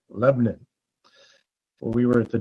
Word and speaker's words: Lebanon: Not Lebanon, even though it's spelled like that. Lebanon.